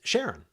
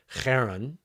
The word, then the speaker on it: Charon: So there's the original Greek one, which kind of sounds like you're clearing your throat. So it's like Charon. There's the English-sized version of it where you say Karen, right?